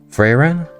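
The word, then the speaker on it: Frieren: It's called Freyrain. Freyrain? That's how you say it.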